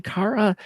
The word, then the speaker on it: Kara: I apologize the I go by Cara but I'm not picky about it okay well will me I'll make sure to say Cara I want to pronounce it correctly but how are you